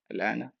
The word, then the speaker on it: الآن: how to pronounce it correctly, you will notice that we have the MAD symbol, and then the letter after MAD, lam, we have symbol of sukun. So we will stretch the vowel by 6 harakats.